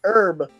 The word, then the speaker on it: herb: box revival hurt herb andre cool got hurt is silent urban it's herb whatever i got a shekel okay i'll tell